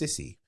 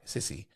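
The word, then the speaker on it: Syssy: The video was taken from her face-off against France's, I believe this is pronounced Sissy, S-Y-S-S-Y, Sissy, or Sissy, in the second of 3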